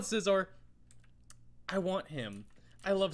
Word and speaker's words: Scizor: Scizor, whatever. Skizor. I don't think it's Skizor. I've heard so many people pronounce it. I call it Scizor.